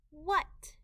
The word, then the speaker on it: what: what W uh what w h H together is a diagraph and they make one sound W the a in this word makes a short u sound and we just need to remember that by heart what they a they